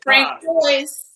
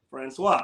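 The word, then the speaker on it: François: you pronounce francois right you're not gonna say swan say frank boyce right boys yeah coy's from coyotes no francois because if they ask see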